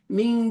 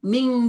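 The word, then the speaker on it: مِن: semua begitu benar ya banyak yang baca eng semua tuh min tahtiha ming duni ming dun padahal bukan it itu bukan ming dun tapi ini cara bacanya begini bapak ibu semua lihatin tangan saya ketika nun begini ya min min nempel ya Mana kelihatan enggak nih? Nih gini nempel ya nih nih lidah nempel min begitu ya.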